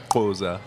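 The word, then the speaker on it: Xhosa: that that one how do you say it Koza ah Wow yeah how long did it take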